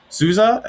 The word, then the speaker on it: Souza: their first record uh steve says souza is how you say his name ben um i've never